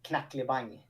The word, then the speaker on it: Knackelibang: Yes, in Swedish it's Knacklebang. Knacklebang. Knacklebang. Just a simple G in the end.